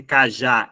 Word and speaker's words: cajá: Tá vendo que cajá é uma dissílaba, só que a última sílaba é a mais forte?